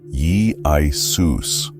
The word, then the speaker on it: Iesous: Put it all together, and the Hebrew Yeshua, YSHVB, became the Greek Iesous, which is pronounced something like Jesus, Ye-I-Sus.